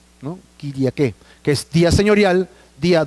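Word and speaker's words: Κυριακή: Yo estaba en el Espíritu, dice Juan, el día del Señor, que significa o se pronuncia Kyriake, ¿no? Kyriake, que es día señorial, día dominical o dominus, que es igual a Señor.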